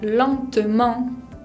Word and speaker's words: lentement: En la palabra lentement, no se pronuncia la T final y tenemos una nasal, la E con N, la combinación.